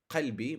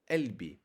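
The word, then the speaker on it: قلبي: So it's not qultu, it's qult. Or it's not qalbi, my heart, it's elbi. For example, in North Africa, you might hear it pronounced as a g. Instead of qalbi, you might hear gelbi.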